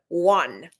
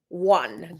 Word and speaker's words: won: Won. Okay. Won. WON is the past tense of win, and it's pronounced just like the number one.